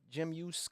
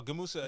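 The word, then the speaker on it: Gemüse: I might say it wrong, but Jim Yus kebab. Oh, Gamusa.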